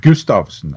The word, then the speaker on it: Gustafson: I don't know hutch Gustafson is pronounced Gustafson and it's a very very very Norwegian name not Swedish not Danish not anything but Norwegian uh thank you for